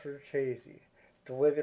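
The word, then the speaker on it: Richese: I'm not going to mention any names, but it is pronounced Verchese, the way they pronounce it in the show.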